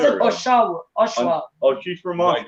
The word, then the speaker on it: Oshawa: So we've got Hollywood, and Hollywood's also from, how do you pronounce it? Oshawa.